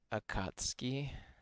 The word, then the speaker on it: Akatsuki: The U is silent. Akatsuki. Just like Sasuke.